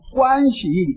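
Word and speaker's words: 关系: 보고 한국 사람들 이렇게 겪어 보지만 중국 사람처럼 관시 인간 관계를 그렇게 중요한 사람들도 없을거이지 사람 근데이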